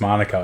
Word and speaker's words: Manuka: these ground names C you know the Tre is pronounced Mana but I guess I think the place might be pronounced manica in Australia man I don't know I think it's Monica mate we'll get there one